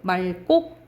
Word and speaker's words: 맑고: 그런데 이 리을 기역 뒤에 기역이 오면 리을로 발음돼요. 그 기역은 뒤로 간다 생각하시면 돼요. 맑고 이렇게 발음 나는 거야.